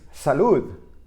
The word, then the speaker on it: salud: it at a moment notice the word is Salud which means bless you somebody sneezes and says